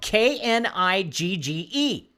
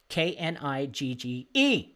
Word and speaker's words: Knigge: No, it's spelled Knigge. Gge, not, no. Knigge, guys. Okay?